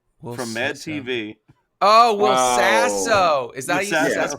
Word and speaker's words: Will Sasso: Will Sesso from Mad TV. Oh, Will Sasso. Is that Sasso. Is Sesso the way you say his name? I think it's Sasso. It's probably Sasso.